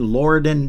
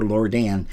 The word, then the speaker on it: Lorden: burka Mike Bur 61 Lorden Drive l o r d n now it's either Lorden or Lordan it doesn't matter it's spelled l o